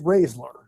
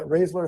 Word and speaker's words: Raeszler: how do you say it it's uh it's raisler ra yeah raisler how you pronounce it I I had some friends wait